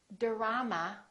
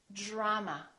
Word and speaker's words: drama: a few more words we don't say dama we say drama drama we don't say drop